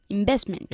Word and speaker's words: investment: Investment. Investment. La V es importante, ¿eh? Investment.